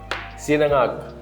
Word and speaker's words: sinangag: Sinangag.